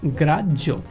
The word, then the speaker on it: গ্রাহ্য: গ্রাহ্য, এখানে দেখেন হয়ের সাথে জফালা রয়েছে এই জন্য এর উচ্চারণটা হবে জজ এবং তার সাথে ও, জ অর্থাৎ গ্রাহ্য।